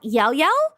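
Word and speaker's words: Llao Llao: Like an example of this is that there is this Spanish um like frozen yogurt brand uh it's called Yao Yao. It It's spelled L L A O.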